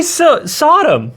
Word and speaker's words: Sodom: I just need to say Saddam and Gomorra. Cuz if I do, Saddam Hussein, just say Sodom.